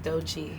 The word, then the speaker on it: Doechii: really pronounce how do you pronounce it it's pronounced douchey dolce yes with two eyes from tampa yes